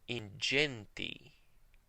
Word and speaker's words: ingenti: But in the ecclesiastical pronunciation, whenever G is followed by an E, an I, or even a Y, it's pronounced J, the soft G. We see that again in ingenti.